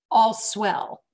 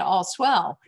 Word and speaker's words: All Swell: the virus thing hit, we were pronouncing it All Swell. And after the virus hit, I said to Dave, I need to change the name of how we pronounce this. From now on, it's going to be All's Well.